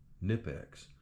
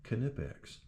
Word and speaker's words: Knipex: And yes, these German pliers, pronounce the K. I looked into it cuz I was calling them Nipex. And it is indeed Knipex.